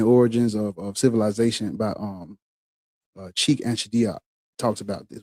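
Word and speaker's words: Cheikh: I heard somebody say it and Sheikh Anta Diop. I I just I just know cuz I I I repeat the pronunciations from you know I I've heard Anthony Browder and I I heard Dr.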